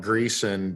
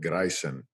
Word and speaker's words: Greisen: So Danish and German descent, and it looks like Greason, but the Germans pronounce it Greisen. Greisen. Kind of Yeah, like a Spanish roll on the R.